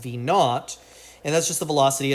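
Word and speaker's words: v₀: give this a name we can go ahead and call that v sub zero which just is pronounced v naught and that's just the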